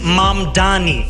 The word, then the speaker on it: Mamdani: And furthermore, the name is Mom Dani. M A M D A N I.